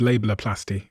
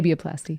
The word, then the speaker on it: labiaplasty: A lot of people are having this new procedure called labelloplasty. Did I pronounce that correctly? Labiaplasty. Labiaplasty.